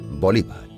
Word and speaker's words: Bolívar: bolívar murió de tuberculosis en algunos países europeos su apellido se acentúa en la segunda sílaba bolívar en el año 1820